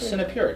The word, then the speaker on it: Sinapura: Sinapura, just like it's spelled.